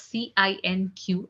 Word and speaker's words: cinq: 5 is written down as Cinq, and it's being pronounced as cinq.